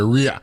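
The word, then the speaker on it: Rhea: I can tell you whenever it's a last name it's pronounced Ray but when it's a woman's first name it's R oh R okay so we're good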